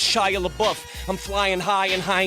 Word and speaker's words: Shia LaBeouf: And it's pronounced Shia LaBeouf.